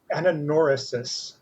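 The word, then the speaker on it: anagnorisis: It's called ananorisis, spelled with a silent G.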